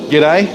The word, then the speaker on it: g'day: Yeah, it's kind of pronounced like if you spelt it G-I-D-D-A-Y, g'day.